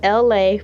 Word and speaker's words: Elay: This is me, LA, pronounced LA like the city.